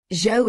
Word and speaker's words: Zhao: Zhao is pronounced like the common English name Joe.